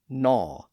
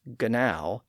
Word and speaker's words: gnaw: But sometimes we have a G in words that isn't pronounced at all. That's especially true for the G at the front of words like gnaw and gnat. In those words, the G was once pronounced as gnow or gnat.